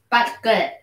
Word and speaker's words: Budget: Budget. Budget. It's a soft G and we don't pronounce the D.